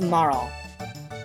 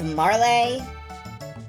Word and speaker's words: Marle: Oh, by the way, my name is, Now, I've always pronounced this Marl. And I don't know if it's Marley, but I'm gonna stick with Marl, because if I try to say Marley, I'm gonna fucking regress into Charles Dickens.